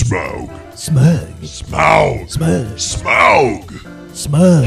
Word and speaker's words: Smaug: And I call this one smug. Rhymes with Grug. It's Smaug.